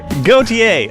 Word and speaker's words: Gauthier: forgot to ask how to pronounce his name guthier is it good here Gautier actually that's how I would have pronounced it um in 2018 weighing over 530